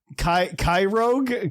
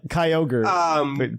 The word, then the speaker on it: Kyogre: I was 10 when Ruby and Sapphire came out, and for some reason I used to pronounce it Kyrogue, which to this day sounds better name to me. Honestly, it does. I learned the correct pronunciation by none of my new friends.